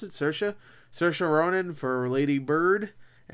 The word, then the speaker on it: Saoirse: Saoirse, I think that's how you pronounce it, Saoirse.